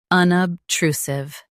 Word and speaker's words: unobtrusive: Both US and UK have the same pronunciation of this word, unobtrusive. Now read the syllables shown on the screen naturally. Nub. True. Sieve. Unobtrusive. Stress true and keep sieve soft.